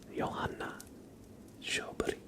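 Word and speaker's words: Sjöberg: should be pronounced, and it is closer to Johanna Schoberg. Instead of Johanna, it's Johanna, with like the emphasis on the second syllable in Johanna, and it's not Joburg or Schilberg. It's Joburg.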